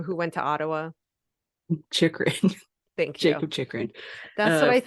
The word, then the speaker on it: Chychrun: Chychrun.